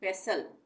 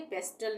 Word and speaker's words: pestle: यहाँ पे हम इसको क्या पढ़ेंगे, पेसल, पेसल, टी नहीं बोलेंगे, पेस्टल नहीं बोलेंगे, पेसल, ठीक है।